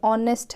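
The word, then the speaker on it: honest: देखना, जैसे ये ऑनेस्ट है, यहाँ पे एच साइलेंट है, इसको क्या पढ़ेंगे? ऑनेस्ट।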